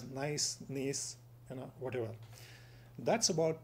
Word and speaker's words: gneiss: It's called the Peninsular Gneiss, G-N-E-I-S-S, pronounced as nice, gneiss, whatever.